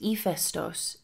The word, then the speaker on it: Ήφαιστος: Stories about Hephaestus, pronounced Hephaestos in Greek, emphasize his ugliness and the fact that he walked with a limp.